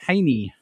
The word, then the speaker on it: Hajny: got uh brandel wrecker and uh haney of silent horn i hope i said your